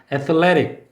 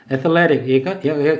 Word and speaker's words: athletic: athlete 강세가 있고 미국 사람은 athletic이라고 하는 게 아니라 T 발음을 굴려서 athletic 이렇게 발음해요. water 하는 것처럼 athletic 얘가 운동의 또는 운동선수 같은 탄탄한 이런 말이에요.